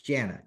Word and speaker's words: Janna: misspell it J an because some people say tell me that Jenna girl's name it's Janna J an A okay real simple at